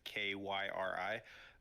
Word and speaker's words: Kairi: So I spell it most of the time how Asuka usually says it, which is Kyri. Hurry! No, you got to add a whole bunch of I's. Yeah, that I lingers at the end.